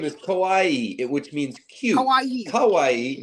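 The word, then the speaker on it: かわいい: The difference in pronunciation, it's kawaii, not kowai. Kowai means scary.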